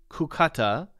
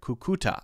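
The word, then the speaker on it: Cúcuta: I had lived in kukata until 2020 when I moved to Bogota that would be correct oh I'm getting another correction here kukuta okay see you gotta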